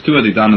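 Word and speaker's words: Tuatha Dé Danann: No, you pronounced it right. It's Tua de Danann, the tribe of the goddess Dana.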